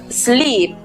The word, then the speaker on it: sleep: Otra combinación muy común en inglés corresponde a la vocal E cuando está repetida en la misma sílaba, como ocurre en la palabra abeja. En este caso, la vocal E cuando está repetida en la misma sílaba se pronuncia I. En este caso, be. Igual ocurre con la palabra dormir, sleep.